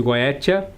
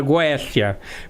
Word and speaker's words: Goetia: referência da terminologia de Goétia, que na verdade o correto seria falar Goécia, porque o T em latim se pronuncia com o som de C.